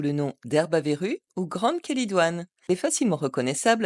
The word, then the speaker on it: Chélidoine: connaî aussi sous le nom d'herbavrue ou grande kelidoine elle est facilement reconnaissable à ses fleurs jaunes et son latex jauneorangé elle est couramment utilisée en phytothérapie depuis l'Antiquité il faut noter que la kelidoine est une plante intéressante à connaître mais qu'elle